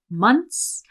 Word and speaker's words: months: Now here with months, she's not pronouncing the TH. She's just saying months.